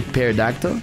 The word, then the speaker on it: pterodactyl: Can't believe it all pronounces the P in pterodactyl.